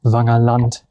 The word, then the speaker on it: Wangerland: And of course, I know it is pronounced Wangerland and Herumsiel, if I pronounce it correctly in German, but I wanted to